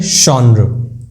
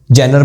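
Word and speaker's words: genre: इसको बोलते हैं शॉनर, शॉनर। इसको बहुत लोग बोल जिनर पढ़ते हैं, जेनर पढ़ते हैं, जॉनरा पढ़ देते हैं, जॉनरा नहीं, शॉनर, शॉनर बोलो थोड़ा चलता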